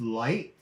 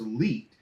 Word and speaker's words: Leite: It's late. It's milk. Yeah. And go figure. You went into food. Nobody says late, except the Late. Portuguese people. They'll Yeah. say late. But everyone says light, lighty, leady. Nobody says. My father chose leet because when he came here, there was a couple of other leets.